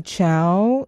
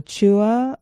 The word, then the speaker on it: Chua: open here it's from Amy Chow um or Chua I think it's Chows how she pronounced it I found this